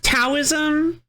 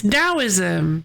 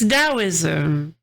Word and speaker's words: Daoism: Hey, are you trying to tell me it's pronounced tauism? It is not tauism. It's daoism. No, it's daoism.